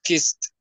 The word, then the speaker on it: kissed: The past is kissed. Very good. Good pronunciation of the letter T. Kissed.